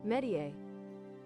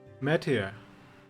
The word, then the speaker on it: métier: How do you pronounce this? In English. Métier. Métier.